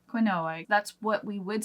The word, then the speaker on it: quinoa: ingredients for something but Josh just learned that it was quinoa I have no words I have no words to share with you guys what were you saying before quinoa quinoa that's what we would